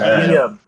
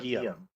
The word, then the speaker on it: Guillaume: Guillaume. Like William, like sort of, but Guillaume.